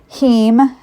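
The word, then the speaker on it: heme: So there are two sources heem and that's spelled he eme that's your animal-based iron source.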